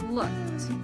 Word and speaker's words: looked: even though it ends with easy but the pronunciation is for the last time looked next word is washed everybody say washed don't